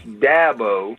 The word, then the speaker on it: Dabo: about R for you it's Dabo as in apple a Dabo I get all kind